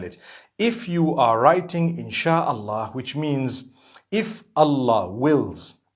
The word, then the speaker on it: Insha'Allah: And when you're saying it, you say Insha'Allah.